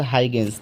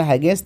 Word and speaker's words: Huygens: प्रकाश सबसे पहले Christians हाइगेंस, देखिए हाइगेंस के स्पेलिंग HUYGENS होता है।